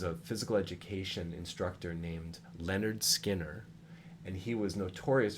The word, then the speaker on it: Lynyrd: skynyrd with the Y's see how it's spelled Leonard yeah Skynyrd money yeah yeah